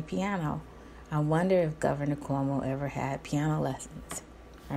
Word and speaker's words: Cuomo: and by the way it is Cuomo and not Q Omo I have to add laughter to that because them my friends down south aren't sure how to pronounce Cuomo and then they see it and I think you save the sea and the you first and then the rest but it's Cuomo they give it the way you pronounce the word Queen quo Cuomo anyway Governor Cuomo was kolnas